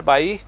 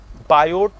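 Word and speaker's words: Biot: ठीक है, एक क्वेश्चन ये है, what do you understand बाय बायोट number. हालांकि सही प्रोनाउंसिएशन इसका बायो नंबर है क्योंकि टी साइलेंट होता है।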